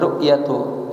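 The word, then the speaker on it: رؤية: Ya, bacanya ru'yatu karena dia dari minar ru'yah.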